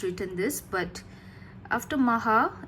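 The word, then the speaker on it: Magha: communities couldn't pronounce Maha couldn't pronounce the h so it became Maka Maga it became magum it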